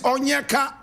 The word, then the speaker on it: Onyeka: His name is Onyeka Nwelue. Onyeka Nwelue. Onyeka is spelled O-N-Y-E-K-A.